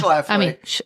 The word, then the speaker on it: Schlafly: Schlafly.